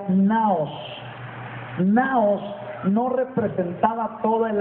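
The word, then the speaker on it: ναός: La palabra templo ahí es una palabra griega que se pronuncia naos.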